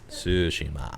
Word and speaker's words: Tsushima: I was saying it exactly how it's pronounced. Tsushima.